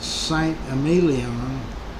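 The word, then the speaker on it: Saint-Émilion: St. Amelon. Probably not even pronouncing it right.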